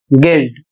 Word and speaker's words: guilt: अगला शब्द है GUILT और इसे पढ़ा जाएगा गिल्ड, इसका अर्थ होता है अपराध।